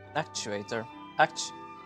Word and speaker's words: actuator: It's as I said in the video, you have to like stress the first part of it.